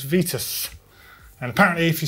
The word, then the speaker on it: Vitus: uh and where does Vitus or Vitus however you're pronouncing it um bike originate it was from sen Etienne in France uh and the name was originally pronounced vitu uh Irishman Sean uh